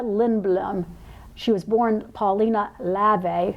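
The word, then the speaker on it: Levi: She was born Paulina Lave, it's spelled L-E-V-I, but I use Google pronunciation too, I hope that's right, Lave in German.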